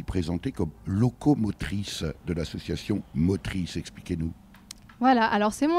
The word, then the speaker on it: Motris: Mais avant cela, je vous ai aussi présenté comme locomotrice de l'association Motrice.